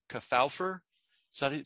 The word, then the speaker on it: Kefauver: And I think I always pronounce this guy's name wrong. Kefauver, is that it? Kefauver.